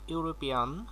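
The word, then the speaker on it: European: তো 1 নম্বরে আছে হি ইজ ড্যাশ ইউরোপিয়ান। তো এখানে ইউ এর মতো উচ্চারণ হয়েছে বিদায় এখানে এ বসেছে।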